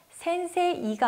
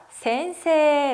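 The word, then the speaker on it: 先生: 발음을 어떻게 표현 했었죠 센세 이가 아니라 센세 라고 표현을 했었죠 그럼 가운데에서 센세 에 발음 어디 나와 있죠 위에서 4번째 줄에 나와있어요 그리고 히라가나로 발음은 요 맨 오른쪽에서 밑에서 두번째 나왔죠 센세 이 발음 할 땐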